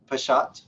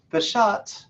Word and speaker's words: peshat: Primero, peshat se escribe P y después una apóstrofe, S-H-A-T, peshat.